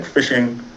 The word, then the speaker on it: phishing: Spelled with a PH, but similar to regular phishing, right?